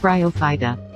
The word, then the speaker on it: Bryophyta: group of plant life and there's already a pronunciation available for it bryophyta there you go a definitive answer wait what's this bryophyta in 30 seconds raw can be fought with